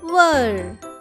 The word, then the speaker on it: were: W-E-R-E, were. Were. Last E is silent here.